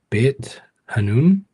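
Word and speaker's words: Beit Hanoun: leave my hometown of, and forgive me for pronunciation, Bit Hanoon.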